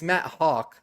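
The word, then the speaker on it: Haack: Matt Matt I guess it's Matt Hawk is how you say it.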